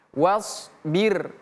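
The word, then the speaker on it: وَاصْبِرْ: was was nah hati-hati bukan s dalam bahasa Indonesia tapi shaod shaod Wasbir. Wasbir. 1 2 3. Wasbir. Sekali lagi 1 2 3. Wasbir. Hati-hati jangan baca wasbir bukan wasbir. Kalau wasbir itu sudah tidak sama lagi artinya. Tapi kalau wasbir maka sabarlah artinya. Artinya maka sabarlah. Kalau ganti pakai sin wasbir itu sudah lain lagi artinya.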